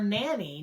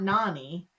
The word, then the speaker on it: Nani: He can't pronounce the word correctly. So he's calling her Nanny, not Nani.